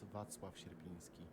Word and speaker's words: Wacław Sierpiński: I don't know what Ruby just said, but it's pronounced Wacław Sierpiński.